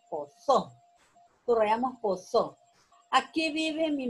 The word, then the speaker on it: posó: Ahí la palabra aguda es posó, porque termina en vocal o y la sílaba tónica es so, posó.